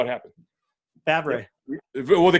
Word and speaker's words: Favre: Favre. Well, they called him Favor. They called him Favor or something like that on TV. They didn't know how to say his name right.